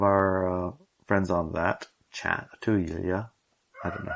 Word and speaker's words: Inelia: Yeah, and one of our friends on that chat, Inelia, I don't know how to actually say her name. Inelia.